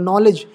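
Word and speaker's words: knowledge: एल ईडीजी इसमें भी देखलो एन आया तो के साइलेंट होगा नॉलेज यहां भी निमोनिया अच्छा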